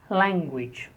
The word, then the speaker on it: language: The next, 63, language. Language. Language. Stress on the first syllable. Language.